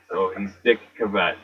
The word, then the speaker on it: Cavett: Dick Cavett, spelled like cassette. Cavettete. That's how you say it, Cavett.